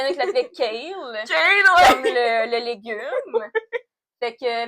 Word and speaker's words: Chaol: Puis elle l'avait vraiment spécifié, c'est comme, ben, tu le prononces comme si tu disais chaos, mais à la place du S, c'est L. Fait qu'au début, moi, je l'appelais Cole, mais c'est Kale, tu sais.